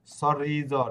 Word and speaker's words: sorriso: যে আপনি উচ্চারণ হচ্ছে, sorriso, হ্যাঁ sorriso, হ্যাঁ, sorriso, সরিজো, ঠিক আছে। কেন এখানে এস এর উচ্চারণ জ্বর মতো কেন হবে? এসেরও কারণ উচ্চারণ জয়ের মতো হবে কারণ দুইটি ভোকালের মধ্যে আছে।